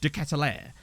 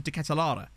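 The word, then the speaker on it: De Ketelaere: more um I like I've heard everyone say it decathlair but every time I've heard someone heard someone who's Belgian say it they've always pronounced it as decathlara so I don't know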